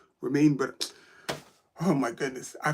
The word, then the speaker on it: Romain: Roman, that's not how you pronounce his name. As for picnic poster now, yes. Bardet. That's it. I'm not pronouncing his name. Romain, but oh my goodness, I feel like a complete idiot.